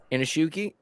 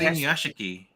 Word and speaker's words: Inuyashiki: Inashuki? Oh. I can never say it right. Yeah, there you go. Yeah, I thought it was Inuyashiki.